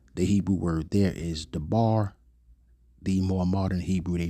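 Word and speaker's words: דבר: And there it is, dabar. Let's see how they pronounce it. Strong's H 1697. Davar. Davar. And they say davar like it's a V there.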